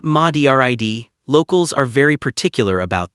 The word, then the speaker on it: Madrid: About halfway along that road, you'll find Madrid. And before I say another word, it's pronounced Madrid, not MADRID.